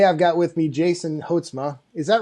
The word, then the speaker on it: Houtsma: morning though today i've got with me jason hotzma is that right did i pronounce that right it's it's housemate oh yes it's uh yeah i know and